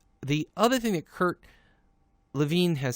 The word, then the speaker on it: Lewin: Kurt Lewin, and by the way, yes, I know it's spelled Lewin, but it's Kurt Lewin, who's a German-American psychologist, and he had two things to say about change.